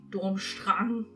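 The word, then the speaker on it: Durmstrang: don't know and also dormstrang dormstrong how we germans would pronounce it is also depicted as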